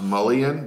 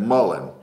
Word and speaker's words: mullein: Hey, Melissa, mullein, yes, we thought forever it was pronounced mullion, but we actually went online to one of the English pronunciation websites, typed it in, and it said mullein, not mullion, because what we thought it was mullion.